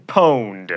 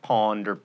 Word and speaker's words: pwned: but you've just been pwned not ponder tweened facia s' no